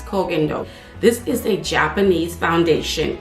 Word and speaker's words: Koh Gen Do: the corgindo aqua foundation i think i'm pronouncing it right when i say clogging dope although i see being pronounced as cogendo which could be right but i think it's kogendo this is a japanese